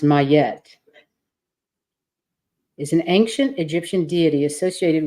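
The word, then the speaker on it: Ma'at: good that's lovely your inspiration oh it's actually pronounced mayette isn't ancient Egyptian deity associated with truth Harmony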